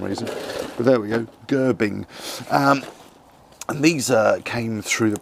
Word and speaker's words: Gerbing: I always say Gerbing, I always mispronounce that for some reason, but there we go, Gerbing.